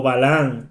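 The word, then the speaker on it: Balaam: O sea que este señor vilán o balán como en español se pronuncia hizo un camino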